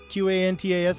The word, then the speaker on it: Qantas: on Lisak Cantus Airlines qan TAS I never knew how to how to pronounce that let's go with that I keep wanting to say Qantas airlines but there's no you there yeah whatever this this